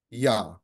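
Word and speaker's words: Iah: The moon deity in Egyptian pantheon, it's spelled with an I, an A, and an H. And it is pronounced Yah or Ah.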